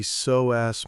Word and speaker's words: psoas: We are talking about the soass muscle pronounced tai soass tice.